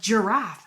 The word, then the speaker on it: giraffe: Like giraffe has a J sound in the beginning, but we spell it with a G.